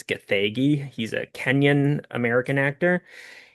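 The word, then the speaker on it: Gathegi: And Eddie Gagi, I thought it was Giggy, but looking it up online how you pronounce it, I think it's Gagi.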